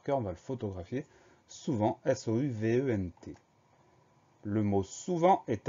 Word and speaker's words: souvent: Première syllabe sous, S-O-U, pas de problème. Deuxième syllabe vent, V-E-N-T. Ça veut dire que le son s'écrit E-N et ça veut dire aussi qu'il y a une lettre muette, un T qu'on n'entend pas à la fin.